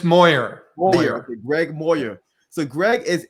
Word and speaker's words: Moyer: 000 people per year today's guest is greg meyer am i pronouncing lastly right make sure i'm making uh it's moyer greg moyer so greg is an innovator right